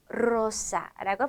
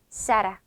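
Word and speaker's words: Zara: 어 이렇게 첫 글자에 오는 R를 혀를 굴려서 사라고 발음한다고 했습니다 자 마지막으로 스페인의 유명 브랜드서 자라 스페인어 식으로 발음하면 사라 또는 사라 이렇게 발음해 줘야 합니다 자 이번에는요이어서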